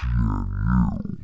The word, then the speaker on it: GNU: But wait a minute, what is GNU? It's pronounced GNU and it's a project that predates